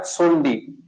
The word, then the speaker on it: Tsondi: TSONDI, सोंडी, T silent रहता है, सोंडी, ठीक है?